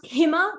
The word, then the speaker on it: Hima: And yeah, it's pronounced Hima, like the Himalayan mountains, just FYI.